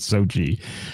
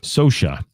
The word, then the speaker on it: Sosha: And he corrected me on stage because I had it phonetically spelled out in my notes as Sochi, and he made sure it wasn't Sochi. Sosha, Noe Sosha, from New York City.